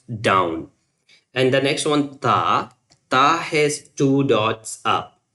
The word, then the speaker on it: ta: It's like the same when you pronounce ba, you just prolong it maybe after ba sound uh almost 1 second or maybe 1 and 1/2. And this one you can say that ta is the same.